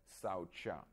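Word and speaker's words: śauca: so we're gonna discuss the first one called saucha that's sa when you put a dash down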